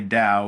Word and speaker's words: Tao: You may have heard of Taoism, and you hear Tao, and when we say Tao, we say it with a D, but it's actually spelled with a T, T-A-O.